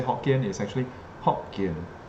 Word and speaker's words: Hokkien: The proper way to say Hokkien is actually Hokkien, not Hokkien.